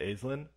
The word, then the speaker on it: Aislinn: first first of all we are pronouncing it correctly right it's aizlin yeah okay and your